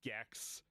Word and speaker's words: Gex: If Tetris had sex, it would be like Gex, which is a stupid game with a dumb marketing ploy because Gex rhymes with sex and stupid.